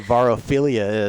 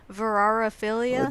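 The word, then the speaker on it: vorarephilia: Now that I know what varophilia is, I want you to eat me, or I don't know. You're missing a syllable in there. Whatever. What is it? Verarophilia?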